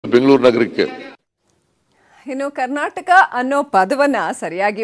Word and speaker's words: ಕರ್ನಾಟಕ: ಇನ್ನು ಕರ್ನಾಟಕ ಅನ್ನೋ ಪದವನ್ನ ಸರಿಯಾಗಿ ಉಚ್ಚಾರಣೆ ಮಾಡದ ಸಚಿವ ಪ್ರಭು ಚೌಹಾಣ್ ಅವರನ್ನ ಕೂಡ ಕಾಲೆಳೆದ್ರು ಸಿದ್ದರಾಮಯ್ಯ.